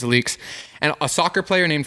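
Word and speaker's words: Alyx: williams who started leaks that's how you say it i thought it was alex but it's leaks and a soccer player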